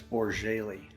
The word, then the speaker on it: Bourjaily: how do you how do you pronounce how do you properly say your last name it's borjaylee or Jaylee is that really yes where's that